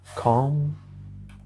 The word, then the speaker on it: conference: conference. إن هنا تنطق إم.